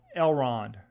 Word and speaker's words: Elrond: 34 so stay long um that that's el elrond that's how you say it elrond um i